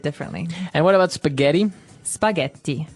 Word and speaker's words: spaghetti: Spaghetti. Spaghetti. Oh, you pronounce the double T as well.